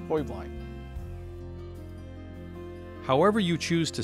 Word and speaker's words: Heublein: it high blind tower there's actually three pronunciations high blind is the family hubline is the business and the actual correct bavarian pronunciation is hoy blind however you choose to